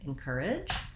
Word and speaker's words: encourage: encourage correctly and easily so the word encourage has second syllable stress that means the cur syllable is long and the in and edge syllables are short and unstressed when we